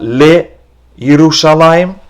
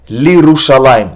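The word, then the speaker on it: לירושלים: It's not le Yerushalayim. Then you would have to pronounce both le and Yerushalayim. By changing the vowel to li, you do not pronounce yud. Not le Yerushalayim, but rather lirushalayim. Just like we learned mirushalayim, so too it's lirushalayim.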